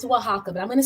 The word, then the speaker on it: Oaxaca: of the place you said oaxaca mexico it's oaxaca but i'm going to spell it for you because when i when i